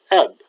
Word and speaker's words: أب: The paradigm is pronounced like this: father, eb, ebi, or abui, abuk, abuki, abu, abua, abuna, abukun, abuun.